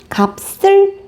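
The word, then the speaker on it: 값을: 자, 올라갔을 때 원칙대로 한다면 이렇게 되지만 발음했을 때 이 비읍과 시옷이 서로 만나면서 된 소리가 됩니다. 우리 위에 방금 앞에서 박다의 쌍디귿과 마찬가지인데요. 자, 그래서 발음을 정확하게 해보면 갑슬 자연스럽게 발음해보면 갑슬이 됩니다.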